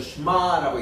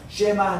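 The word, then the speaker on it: שְׁמַע: 그러니까 쉐마 하는 것은 너무 강조한 말이고 이렇게는 이 에 발음은 에, 이게 아닙니다. 이 에 하고 예를 들면 이게 무슨 저 쉐골이라든가 세레이든가 이럴 때는 확실히 쉐라고 이렇게 발음해 주는데 이거는 슈바 발음이에요. 그러니까 슈바 발음은 약간 있는 듯 없는 듯 요거를 유성 슈마라고 그러는데 쉐바 그러니까 쉐마라고 읽기보다는 슈마 혹은 슈마 이렇게 읽어요.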